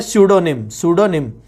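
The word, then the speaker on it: Pseudonym: फिर है सूडोनिम, इसमें पी साइलेंट है, ठीक है।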